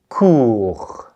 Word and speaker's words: cours: So can you répéter, watching out for the silent T and S and putting your finger over your throat again? Des cours.